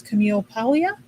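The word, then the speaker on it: Camille Paglia: somebody up there told me the how to pronounce her name which is Camille Palia.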